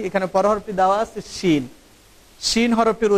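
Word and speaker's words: شين: এই হরফটির উচ্চারণ হবে জিহ্বার মধ্যখান উপরের একেবারে সরাসরি তালুর সাথে সম্পৃক্ত হয়ে হরফটির উচ্চারণ হবে শিন।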